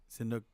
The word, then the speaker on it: Sihanouk: I'm like, you mean I'm- Shinnok? correct me if I'm wrong. And Not he- Shinnok from Mortal Kombat. See- Wait, Sihanouk.